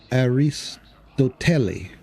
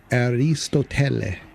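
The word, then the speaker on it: Αριστοτέλη: he's always been Telly, but his full name is Aristotle, but in Greek it's pronounced Aristoteli. I think that's how he said it. But we said Telly, and we say Aristotle, but he says Aristotele.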